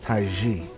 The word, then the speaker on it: Tize: definitely out there just look at my name t-i-z-e and it's pronounced taiji and basically you'll find